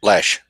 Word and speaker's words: Loesch: Dana Loesch, however you pronounce her name, Lash.